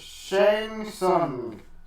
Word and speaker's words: Shang Tsung: Well, how do you pronounce it? Shang Tsung.